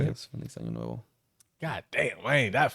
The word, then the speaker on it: Feliz Año Nuevo: Yes, Feliz Año Nuevo.